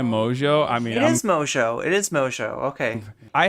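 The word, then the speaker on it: Mongeau: I mean, It is Mojo.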